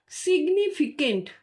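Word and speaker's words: significant: সিগনিফিকেন্ট, দেখো এটার syllabic ডিভিশনটা মানে কেমন করে উচ্চারণ করতে হবে। সিগ, তারপরে নি, তারপর ফি, তারপর কেন্ট।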